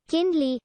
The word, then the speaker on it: kindly: only had it become impossible to pronounce kindly as three syllable it had also become